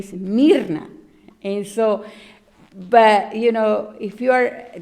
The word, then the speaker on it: Mirna: thing you can say, I've been called Mirna, Morna, Marna, Irma, and so it's okay. I understand, they don't know how to pronounce it, and then I mispronounce it a little bit so they can actually, pronounce it well. It's Mirna, and but it's no. My name is actually Mirna, and so.